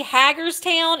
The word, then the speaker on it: Hagerstown: i owe hagerstown the reason why i say haggar's town is because in indiana there is a haggers town and that's the way it's pronounced the teardrop okay lesta send me a